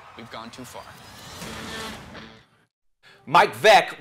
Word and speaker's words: Veeck: Mike Vec rhymes with wreck.